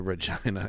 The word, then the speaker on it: Regina: I like that the Regina inspectors to be clear it rhymes with vagina it does good uh